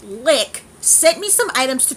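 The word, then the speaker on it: Liqe: this alright the company lick which is spelled liq e li qu e and it's pronounced lick sent me some items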